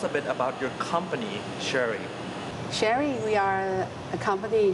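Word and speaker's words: Chery: the car which we you could pronounce it Sheri this is the the pronunciation in Chinese so we are the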